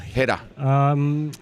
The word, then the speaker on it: Heta: How do you say his surname? Brandon Heta. Heta.